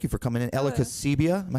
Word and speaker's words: Kociuba: Ella Kociuba. Am I saying it right? Oh, I knew that's why you wanted to hesitate about my name. So it's actually interesting. It's actually Kociuba. Kociuba.